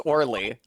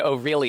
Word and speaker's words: Orly: by Olga quick fingers Orly or I mean o really is actually how you pronounce my name very D o